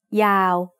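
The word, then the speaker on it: ยาว: Yo yak is a low class consonant to start the syllable, and wawan at the end makes it a live syllable, so it's also mid-tone.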